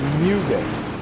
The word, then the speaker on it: Muvik: I used to call him Muvak, and according to him, when I first said his name, I said it correctly, and it was, well, technically it's pronounced Muvik.